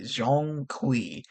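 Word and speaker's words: Zhong Kui: The Chinese pronunciation games come. Okay. Jeong Qui. Okay. So, the next game that they're making is called Black Myth Zong Qui.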